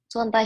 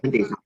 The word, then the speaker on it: Swantai: Hello, Swantai. Hello, ma'am. Can you hear us? My name is actually pronounced Swante.